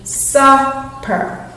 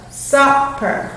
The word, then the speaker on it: supper: For the VCCV pattern, this U is going to make a short U sound. So short U makes a sound like an umbrella, okay? So this will be supper, supper.